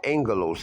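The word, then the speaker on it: ἄγγελος: See, I spelled agalos, but it's actually pronounced angelos.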